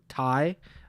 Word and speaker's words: Tsay: figured out how to say his name Daniel Thai.